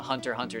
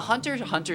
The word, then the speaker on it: Hunter x Hunter: So anyways, on the Hunter x Hunter subreddit for this like manga that I was really into, yeah. You don't pronounce the X.